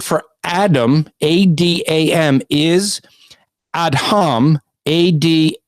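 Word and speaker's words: אדם: is ad hum ad H a.m. that's gonna be important he's adding the letter H in there that becomes important and is phonetically pronounced ad hum ad H a.m.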